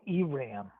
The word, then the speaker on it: Iran: I If you don't want to roll your Rs on everything like, you just say Iran.